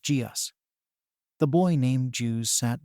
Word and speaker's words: Geus: It's pronounced Geus.